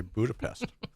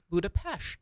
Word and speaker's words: Budapest: they pronounce the S as an SH. That's just crazy. So you will hear Hungarians say Budapest.